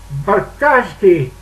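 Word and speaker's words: Buracki: His name was Eugenius Barkowski, but it doesn't spell like how it sounds. It spells like Bravo Uniform Romeo Alpha Charlie Kilo India.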